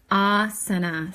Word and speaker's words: asana: can learn it asana so that first ah sound the a with the line above it is ah a long like father and the other two days are considered short A's and it is an uh sound like cup so asana okay and so it goes